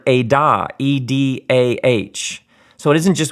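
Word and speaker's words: עדה: But the word here is the word edah, E-D-A-H.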